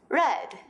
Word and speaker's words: read: diferencia en la pronunciación sabrás cuando necesitas usar grade del pasado o read del presente del contexto si hay expresiones adverbiales de tiempo en el pasado es red yesterday hay red forlán last